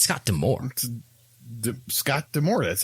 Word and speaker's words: Scott D'Amore: i listened to other wrestling podcasts it's not scott diamore right it's scott d'amore scott damore that's how it's always been that's how they pronounced it when he was managing a tna